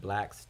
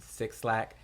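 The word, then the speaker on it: 6LACK: six lack a lot of people call them six slack uh which i did two at first until i learned it was black i've actually got the shirt that like is like six lac pronounced black um but great project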